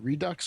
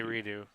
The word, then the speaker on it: Redux: Now, how do you say that? Redux or is that Redo? I say redo.